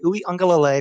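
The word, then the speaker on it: Uiagalelei: enough for dj uyongalole that's how you say his name dj ooey unga lay for people who don't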